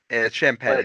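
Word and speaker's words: Champagnie: hoping you would um i think it's champany i think that's how that's johnson so that's champagne that's what it is it's been a while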